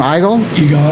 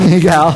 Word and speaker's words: Igal: Igal? Igal.